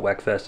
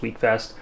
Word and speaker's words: Wekfest: I pronounced it wrong it's not weckfest it's week Fest so if you guys